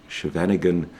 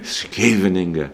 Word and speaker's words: Scheveningen: a6 pawn structure, classical, what Americans would call Scheveningen structures, which the Dutch would cringe at for my pronunciation. Scheveningen is a better attempt.